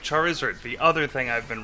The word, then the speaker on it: Charizard: It does because you can hear wizard like Lizard.